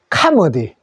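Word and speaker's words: comedy: 그래서 코미디 희극을 하는데 영어 발음은 O로 하지 말고 여기서는 R로 읽어 주십시오. 요거는 소리로 카머디. 좀 비슷하죠? 코미디와 카머디.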